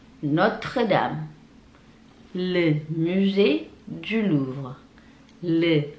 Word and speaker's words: Notre-Dame: La Tour Eiffel, la Tour Eiffel, la Tour Eiffel, les Champs-Élysées, les Champs-Élysées, les Champs-Élysées, l'Arc de Triomphe, l'Arc de Triomphe, Notre-Dame, Notre-Dame, Notre-Dame, le musée du Louvre, le musée du Louvre,